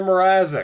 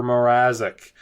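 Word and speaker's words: Mrázek: in our last game a shut out for Peter morz that's right I know it's pronounced Peter moric godamn I mean Jesus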